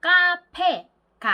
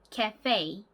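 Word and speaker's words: café: 강세가 가는 경우가 많습니다 예를 들어서 저희가 자주가는 카페 같은 경우에 뒤쪽에 감사가 있어요 그리고 카페 가 아니고요 발음이 따라해보세요 케 페이 한 번 더 해볼게요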